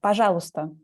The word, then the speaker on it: Пожалуйста: In Пожалуйста. Пожалуйста. Pajagusta? Пожалуйста. Л. Pajalusta.